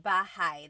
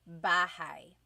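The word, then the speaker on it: bahay: So it looks like bahi, but it's pronounced bahigh. That a y combination is bahigh. Bahai.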